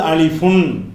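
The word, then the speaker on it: ألف: எழுத்துக்கு பேரு அலிஃப் இந்த அலிஃப் என்பதை வந்து சொல்லும்போது அலிஃபுன் அப்படின்னு எழுதி இருப்பாங்க எழுதும்போது அது வாயில உச்சரிக்கும் போது அலிஃப் அலிஃபுன் அதனுடைய ஒரிஜினல் உச்சரிப்பு அரபு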